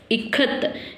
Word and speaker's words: ikat: I, how to pronounce here I as E. Here E. Okay, next Kamala. How do you pronounce K here? K, Ka. Okay, then how do you pronounce TH? T, Ikat.